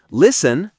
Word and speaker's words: listen: Listen, say listen.